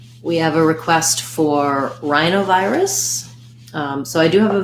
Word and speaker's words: rhinovirus: vi wrists wrist rusts rhinovirus so stress on the eye diphthongs and then less stress on the o and the uh us diphthongs rhinovirus uh the rhinoviruses have